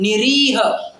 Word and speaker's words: निरीह: निरीह, री के ऊपर दीर्घ है, बड़ी ई की मात्रा है तो उसका उच्चारण भी बड़ा है।